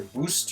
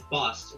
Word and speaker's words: Bost: Is it Boast or Boost or Bost? It's Bost. It's this thing of like Boston, Massachusetts, but without the O-N. That's how you say it.